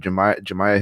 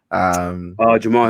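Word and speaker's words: Jamahal: Recently Brandon Royval, who fought this weekend, and then he also interviewed Jemiah Hill. Is that how you say his name? Jamal Hill. Jamal Hill.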